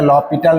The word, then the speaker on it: L'Hospital: কি ল হসপিটাল rule normally এটার উচ্চারণটা ল পিটাল রুল হয় আমরা ল হসপিটাল রুল হিসেবে লিখি আচ্ছা কি আছে রুলটাতে কেন